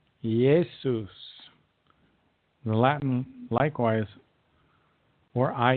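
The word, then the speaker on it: Iesus: we call Jesus today began with the letter i how however it was pronounced with a Y like yesus the Latin likewise or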